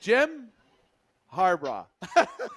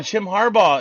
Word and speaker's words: Jim Harbaugh: I don't know this I said his last name wrong last week Jim harbra oh Jim Harbaugh is going to the Chargers is that confirmed